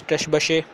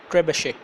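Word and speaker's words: Trebuchet: In fact, it's Trebashe. Okay, yeah, I was getting the pronunciation wrong.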